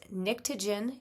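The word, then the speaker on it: pnictogen: where the nitrogen is they are pronounced nictogen even though it starts with a P 6A are the chelcogens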